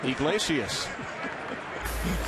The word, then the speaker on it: Iglesias: Takes 4 syllables just to say his last name, Iglesias.